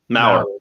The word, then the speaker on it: Maurer: And so everyone listening, is Garriott Maurer, is that how you say it? Maurer. Uh-huh.